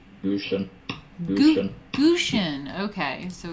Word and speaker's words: Gutians: Let's see, pronunciation. Gushen.